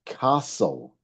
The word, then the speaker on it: castle: Well, castle hasn't got a double letter, but it's very good because it has a silent letter, doesn't it? It's castle.